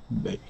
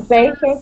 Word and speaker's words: bake: Bake. He's baking cake. Bake. Bake. Okay, good. Yes, so this E at the end is silent. We would not say Baki.